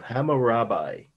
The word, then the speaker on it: Hammurabi: Steely is how it's pronounced, of Hammurabi.